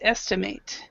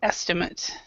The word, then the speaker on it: estimate: The verb is estimate. The noun is estimate. So, can you estimate that? Do you have an estimate? So it's a completely different pronunciation.